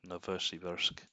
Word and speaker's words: Novosibirsk: I was pronouncing it wrong. Novosibirsk.